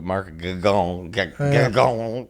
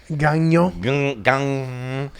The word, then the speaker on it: Gagnon: Well, it was Mark on Schultz's show Mark Gagon. How do you say it the French way? Gagnon.